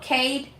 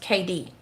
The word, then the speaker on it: Cade: Oh, Cade. Katie? Okay. Oh, KD. Oh, it's pronounced KD.